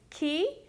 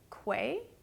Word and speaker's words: Quay: I've confirmed the way to pronounce the brand is Key, even though the way you'd pronounce it if you were reading it correctly is Quay.